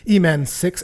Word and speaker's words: E-Man6: By the way, you pronounced my username different than you did in your previous Rurikhan shows. It's E-Man.